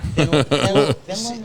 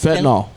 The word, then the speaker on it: fentanyl: Finland, is that how you If I may, Is that how you say it? Fentanyl. Fentanyl, that's it.